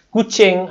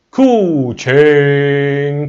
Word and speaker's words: Kuching: Walaupun ejaan Bandar Kuching tu dia ada K-U-C-H-I-N-G. Tak sama dengan haiwan kucing tu kan? Dia ada kucing. Dia ada macam kacing.